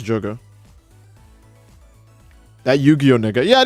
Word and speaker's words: Jogo: Not to be confused with Gojo. You mean Gojo, right? You guys mean Gojo when you're talking about the strongest guy? Nope. I didn't say it wrong. It's Jogo.